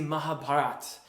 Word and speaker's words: Mahabharat: is the Mahabharat and I'm aware that there's an A on the end of that word I'm just pronouncing it the way I hear it having lived in South Asia for a little bit and travelled there the way that most people modern people at least as I understand it pronouncing this in Mahabharat but in any rate